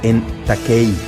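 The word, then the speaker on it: ἐν τάχει: La expresión deben suceder pronto es una expresión griega que se pronuncia en taquei.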